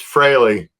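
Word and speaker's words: Frehley: interview his real name was Paul, but it's Freley is how you pronounce the last name. Okay. But his stage name you you'd always pronounce it freely, right?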